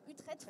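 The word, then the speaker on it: Utrecht: Pays-Bas voilà sainte usse utrech et là c'est des sujets encore eu très utrette où je prononce comme il faut on est sur voilà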